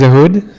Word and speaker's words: Ehud: My name is Ahud, or Ehud, or any way you want to pronounce it is fine by me, as long as the checks get sent to the right address.